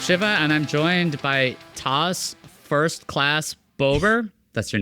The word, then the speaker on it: Tas: No, it's actually what I tell people is TAS like SAS, which is coincidental considering I work in SAS.